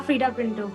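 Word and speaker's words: Freida Pinto: Is that the right way to pronounce it? Yeah, Frida Pinto.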